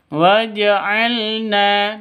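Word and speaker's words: وجعلنا: F waj'alna lakum waj'alna waj'al pendek ya waj'alna Na panjang dua ketukan karena ada Alif diawali dengan fat fathah mad asli Alif sebelumnya fathah Mad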